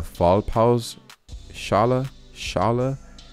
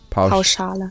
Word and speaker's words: Pauschale: Stationar Behandlungen im Krankenhaus sollen weiterhin über eine Fallpause Schale abgerechnet werden. Pauschale. Was? Pauschale. Pauschale. You pronounce it Pauschale.